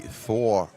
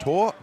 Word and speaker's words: Thor: It might be Thor when you're looking at it on paper, but it's pronounced Tor.